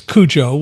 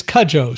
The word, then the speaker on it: Cudjo: telling me that his last name has been pronounced in so many interesting ways, like of course Kujo, which we all know from the movie and the book, but it is Kajjo.